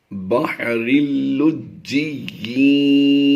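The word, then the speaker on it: بَحْرٍ لُّجِّيٍّ: یا کو ہم نے جب مشدد ہو تو تھوڑا سختی سے پڑھنا ہوتا ہے. لجی یا دو زیر کی آواز دیں گے. بحر اللجی یغشاہ.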